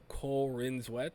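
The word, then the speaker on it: Corenswet: I went through a humongous Corinswet.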